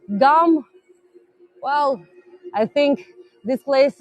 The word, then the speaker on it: GUM: own style Amy yeah this is a Russian pronunciation um gum well I think this